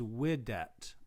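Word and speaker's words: vidit: text had long marks, there would be a long mark right here indicating that this is pronounced weedit, whereas this is widet, okay?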